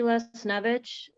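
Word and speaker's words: Lesniewicz: um could you state your name and spell it for the record please les snovich um the last name you want spelled yes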